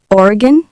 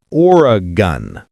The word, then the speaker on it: Oregon: Oregon. Most Americans say Oregon, not Oregon.